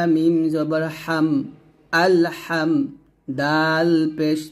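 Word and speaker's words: الحمد: হা মিম জবর হাম আল হাম দাল পেশ দু আলহামদু আমরা এখন অনেকে বলি আলহামদু এরকম ভাবে মিমে গুণনা করি তো গুণনা করা যাবে না স্পষ্ট করে পড়তে হবে আলহামদু এরকম আলহামদু লাম লামের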